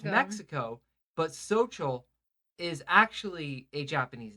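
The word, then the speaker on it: Xochitl: work with this girl named Social. It was Okay. XOTCHL, something like that. But I used to, every time in my head, to remember how to pronounce her name, I used to say, so chill.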